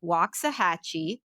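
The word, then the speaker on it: Waxahachie: up we have a note from Catherine in waah hatchee thank you Katherine for putting the pronunciation of your city Catherine I knew I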